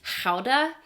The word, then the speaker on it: Gouda: like throaty sound, like the way you're supposed to pronounce it is actually something more like howda. So more like an H, but you need to get the extra like phlegm in there.